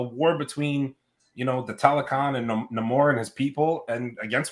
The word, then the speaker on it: Namor: Say his name right, Namor.